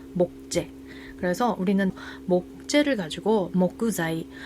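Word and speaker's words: 木材: 한국어 발음은 재어 발음은 사이. 그러면 목재는 일본어를 어떻게 읽어요? 모그자이 이렇게 읽게 되고요. 사이에 타그마가 와서 자이라고 되는 거고요. 한국어로는 뭐다? 목재. 그래서 우리는 목재를 가지고 목구자이.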